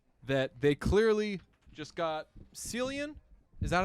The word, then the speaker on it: Cillian: We both had the same issue, which was that they clearly just got Cillian. Is that how you say his name? Cillian Murphy, yeah.